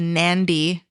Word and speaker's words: Nandi: gets its name from the Nandi and I I could completely be pronouncing this wrong. No, the Nandi is right. I feel like it is right. I've heard that.